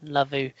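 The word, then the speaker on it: Ndlovu: He came out with this line: Hull sack Mike Phelan in the same week that they sack youth coach Peter Nlavu, or Nlove as it's pronounced.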